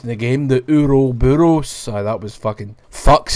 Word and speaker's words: Ouroboros: Albert Wesker's taking over, and he's got the Ouroboros virus, or whatever the fuck it's called. I can't remember. I just remember the way it was pronounced in the game, the Ouroboros.